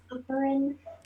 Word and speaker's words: hovering: Hovering. Hovering, Horizon hovering. level. Ó a diferença. O tracinho veio antes do hovering, porque ha é a sílaba tônica.